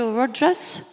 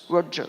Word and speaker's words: Rutgers: Vous enseignez à l'université de Rutgers. Rutgers. Oh, Rutgers. Excusez-moi, je prononce à la française.